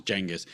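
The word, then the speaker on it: Genghis: Yet, they're intrigued by the fact that that Jenis Khan, which that is actually how you're supposed to say his name is Jenis.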